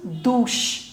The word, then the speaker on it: douche: Now, the next is CH. The pronunciation of the combination CH in English is ch. But in French it's sh. So together it becomes douche.